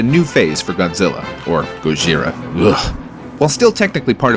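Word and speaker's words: ゴジラ: with this guy too in Japan it's actually pronounced Gojira beat it fake nerd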